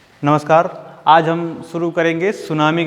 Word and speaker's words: tsunami: अगर हम देखें तो इसमें टी शब्द साइलेंट रहता है, तो टी सुनामी टाइप लिखा रहता है, उसको टी साइलेंट है तो उसको हम सुनामी से ही समझेंगे।